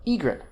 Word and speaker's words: egret: really inconsistent right because you've got regret stress on the last syllable right but egret a bird it's a bird egret they're not consistent but